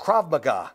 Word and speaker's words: Krav Maga: Krav Maga.